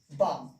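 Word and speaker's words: balm: और एम से पहले एल हो, तो उसका उच्चारण नहीं करना है। इसको पढ़ते हैं एम्स, चाक, टॉक, बाम, ठीक है ना।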